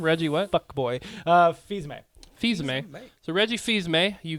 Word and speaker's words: Fils-Aimé: Fils-Aimé.